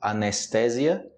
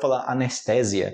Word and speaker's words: anestesia: mas a pronúncia diferente você falar em português anestezia tá errado ok nenhum Brasileiro anestesia outra também galera essas